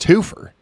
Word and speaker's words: twofer: I know it's pronounced twofur.